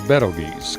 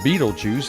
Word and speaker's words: Betelgeuse: That is Betelgeuse, commonly mispronounced Beetlejuice after the film of the same name.